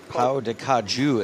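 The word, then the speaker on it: pão de queijo: Pau de Caju is how it's pronounced, says Kevin McPhee, who just moved to Brazil himself.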